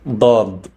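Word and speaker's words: ض: Next is Dad, pronounced as a D coming from deep in the throat. So, Da, do, do. It's not da, da, da. It's dad.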